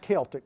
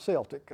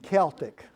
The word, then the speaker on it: Celtic: There was a Celtic band, and it's pronounced Celtic, by the way. It's not Celtic. I know the people in Boston are a little bit confused about that, but it's Celtic.